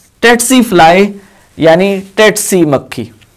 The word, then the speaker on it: tsetse: इसको सीसी बोलते हैं, कुछ लोग इसको टेट्सी बोलते हैं। अगर हम ब्रिटिश प्रोनाउंसिएशन को फॉलो कर रहे हो तो उस लिहाज से ये टेट्सी कहलाएगा। अगर हम अमेरिकन प्रोनाउंसिएशन को फॉलो कर रहे हो तो उस लिहाज से ये सीसी कहलाएगा, जबकि हमारा जो देसी सिस्टम है उसमें हम इसको सेट्सी भी बोलते हैं।